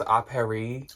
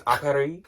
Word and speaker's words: Apparis: I think it's pronounced Apparis. Like, it's like App Paris, but I think it's Apparis.